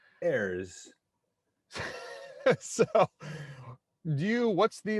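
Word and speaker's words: Herse: pronounced renee hurst uh there's no t and i don't speak french so however you want to pronounce h-e-r-s-e as a french heirs so do you what's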